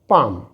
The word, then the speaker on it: palm: पढ़ते हैं समम समम यहां पर एल साइलेंट है तो इसे हम पढ़ते हैं पाम पाम यहां पर एल साइलेंट होने